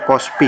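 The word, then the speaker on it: cos φ: Ini adalah fase-fase atau kos PP ini bacanya kospi ya kospi Hai kemudian beda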